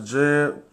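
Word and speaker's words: Djed: which means stability that's Jed and it'll be written in trans literation as DD the transcription will be DJ e d where the J is silent but we also got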